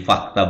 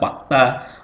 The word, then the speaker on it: fakta: Jadi fakta bukan fakta, fakta.